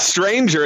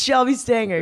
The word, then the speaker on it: Shelby Stanger: How did you just say my name? That was so funny. Wow. It's not Stranger, is it? It's I always not. called It's you not Stranger. Stranger. It's Shelby Stanger.